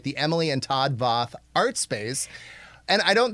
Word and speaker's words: Voth: So I'm going to just slightly correct the pronunciation. It's Emily and Todd Voth.